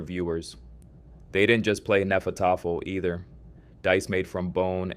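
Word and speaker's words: Hnefatafl: Vikings played a game called Nefat, pronounced roughly nefat, and they played it everywhere.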